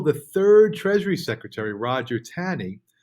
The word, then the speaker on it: Taney: So it wasn't until the third Treasury Secretary, Roger Taney, I might be mispronouncing that, I think it's Tawney, was willing to remove the funds, that Jackson was victorious in his bank war.